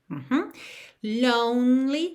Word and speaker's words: lonely: Lonely, não pronuncia o E do meio, ok?